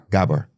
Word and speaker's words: Gabor: Gabor.